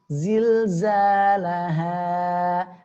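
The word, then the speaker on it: زلزالها: Baik, pengucapannya adalah ha pangkal tenggorokan. Zilzalaha. Akan tapi tipis ya, tidak ditekan ya atau dipaksakan sehingga ya terdengarnya tebal. Zilzalaha, laha, salah ya, maka salah ya, jangan sampai ditekan ya berlebihan, maka ya melatihnya bagaimana?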